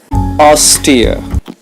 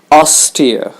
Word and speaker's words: austere: nothing more to explain austere is an adjective the stress is on the first syllable austere if we lead a